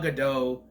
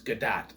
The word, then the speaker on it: Gadot: English language dictates that it should be an O sound at the end of her name, but apparently it's not that way. It's Gadot, apparently. But she shows up as Wonder Woman and repowers the staff.